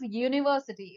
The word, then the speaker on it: university: This is university, isn't it?